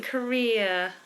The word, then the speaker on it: career: shamim you've said career that's not quite the same that doesn't have a schat ending career uh career career that's a diff thong ending ker um carrier carrier